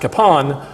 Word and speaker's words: Kapaun: said told me that it's supposed to be pronounced kapon but he said the way he looks at